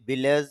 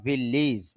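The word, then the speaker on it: village: To your ভিলেজ, যদি এটা আমরা ভিলেজ বলি, ভিলেজ এটা অশুদ্ধ, শুদ্ধ উচ্চারণ হবে ভিলেজ। এখানে এইটাও রস্বইকারের মতো হবে।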